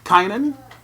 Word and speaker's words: Kynan: Round Rock Texas and I have with me Kanan and I did pronounce that right right you pronounced it correct